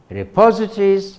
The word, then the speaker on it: repositories: of words are the repositories of words when you pronounce it stress on the second syllable repositories dictionaries are the repositories of